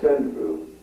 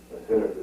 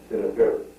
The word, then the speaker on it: Seneferu: One of the first rhomboidal pyramids was said to be Seneferu. Seneferu. S-E-N-E-F-E-R-U. Seneferu. Now, that's not Senfru, Seneferu that you see. There's no Khufu, no Khafre, no Menkare. It is Seneferu.